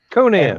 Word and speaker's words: Conan: is it Conan or Conan how do you pronounce it Conan worked on the calendar yeah because you know Robert E Howard was from Texas don't expect European pronunciations out of this sorry sorry it's Conan